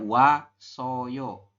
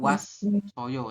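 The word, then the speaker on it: 왔어요: ke ieng menggantikan ieng jadi di bacanya wa soyo bukan was soyo kayak itu bukan ya tapi wasoyo kayak gitu ya Bisa diulangi onje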